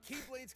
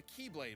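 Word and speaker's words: χ-blade: explosion from when the keyblade was destroyed yeah he means the x-blade it's just pronounced like keyblade even though it's just one keyblade ah the series is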